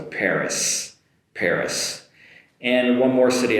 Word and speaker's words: Paris: In English it's Paris Paris with an “s” sound at the end so be careful there not to finish with an “e” and like in Japanese so Paris Paris and one more